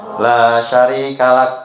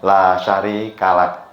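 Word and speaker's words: لا شريك لك: Mohon maaf tadi bacanya la syarikal sering ada mutawif juga seperti itu. Maka tulisannya adalah laka bagimu. Bukan laka bukan. Jadi bacanya la syarikalak ya kalak. Heeh. Pendek satu ketuk la syarikalak ya gitu ya.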